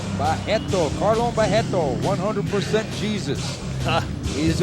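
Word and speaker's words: Barreto: perfect shape and the the RS in Brazil you pronounce as H you will say bajetto bajetto Caron bajetto 100% Jesus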